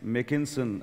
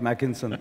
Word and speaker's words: Makinson: of john's name right it's makinson as it make as in bake not mackinson i mean i was